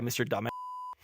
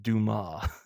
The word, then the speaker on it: Dumas: He keeps calling the guy Mr. Dumbass. And then it cuts to his name. He goes, "It's pronounced Dumas."